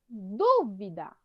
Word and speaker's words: dúvida: Está sempre em dúvida. Dúvida é oxítona, paroxítona ou proparoxítona? Proparoxítona. Proparoxítona, muito bem. Porque a mais forte é o du, né?